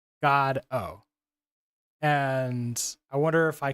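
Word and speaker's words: Godot: Waiting for God and waiting for God is pronounced like this God o and I wonder if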